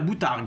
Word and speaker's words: boutargue: C'est d'œufs de mulet, on appelle ça la poutargue ou la boutargue, suivant les prononciations, le P ou le B est autorisé.